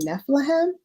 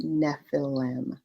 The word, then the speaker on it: Nephilim: wrong like every time i always want to say nephilim and that's not it y'all that that's wrong it's nephilim so yeah y'all get